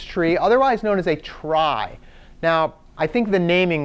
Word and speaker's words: trie: tree called a tri the guy who invented it actually pronounced it tree even though he spelled it this way who knows why right